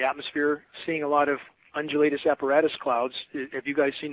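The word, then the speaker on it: undulatus asperatus: those that type of cloud again it's it's pronounced undulatus apparatus that's a formation that was only named in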